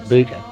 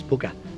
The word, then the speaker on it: Booka: and they said, "Oh, you're saying it wrong. It's Booker."